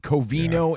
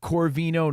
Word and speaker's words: Covino: Don't mispronounce that. Coino and Rich, not Corino, not Conino.